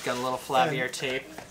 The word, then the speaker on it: Flaviar: We're going to be unboxing the Flaviar.